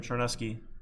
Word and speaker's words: Charnesky: My last name, Charnesky, is pronounced with like the SH sound, like Charmin toilet paper, but it's a CH. and the same CH is making the SH sound again, and I forgot.